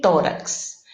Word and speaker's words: tórax: Tórax, qual é a sílaba tônica? Tó, né? Então, esse RAX, que é a segunda sílaba, rax, o A não é tônico, né? Porque o tônico é o O de Tó. Então, nesse caso aí, nós